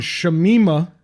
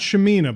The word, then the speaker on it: Shamima: ] yourself yeah and Shamima not shamina because shamina would have been a normal name this is sure Nemeth